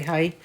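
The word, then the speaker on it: Hae: She's got a bag named after her by, I don't know if you pronounce that Hay or Hay Barker. I would say Hay. H-A-E. Hay. Hay Barker.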